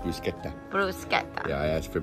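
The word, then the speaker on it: bruschetta: and he also got Bruce shed at me it's pronounced brusketta brusa yeah I asked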